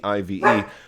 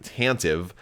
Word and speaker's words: Tantive: particular ship, but it's Tantive, which sounds like Tantive because it should be pronounced kind of the same way that active would be pronounced.